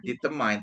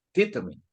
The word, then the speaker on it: determine: Ayo yang benar bacanya Yang benar itu bukan detmine tapi determine determine bukan determan examine atau examine examine